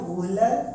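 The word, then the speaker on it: Wöhler: कई बुक में अलग नाम भी हो सकता है लेकिन प्रोनाउंसिएशन यही है, वुहलर और ब्रेजिलियस, ठीक है।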